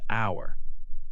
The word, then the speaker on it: hour: You write H-O-U-R, but you say hour. The H does not make a sound. For example, I will be there in 1 hour.